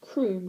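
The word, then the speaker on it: Crumb: stern which clothed that was pretty fitting he didn't look like he smiled a lot or indeed ever actually it's pronounced Croom corrected mother it's not said dad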